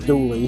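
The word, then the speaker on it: Dula: At the center is Tom Doula, which is pronounced douly here in the area.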